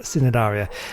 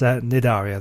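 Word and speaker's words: Cnidaria: Now, last time out, I was pronouncing it Sinidaria, and of course, it's pointed out to me. And actually, in fact, I actually realised after the video I was pronouncing it wrong. It's Nidaria. The C is silent.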